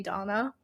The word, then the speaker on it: Dana: look at Dana and pronounce it Donna.